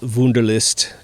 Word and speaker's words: Wunderlist: you know on my wunderlist app wow that's a great app it's spelled like the German wonder W u nder list it's great little app